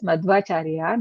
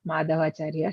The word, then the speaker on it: Madhvacharya: We have to say as Madhvacharya, not Madhavacharya, she said. Okay. So any specific his meaning? name is Madhvacharya. The name Mataji, his name His name to be Madhvacharya.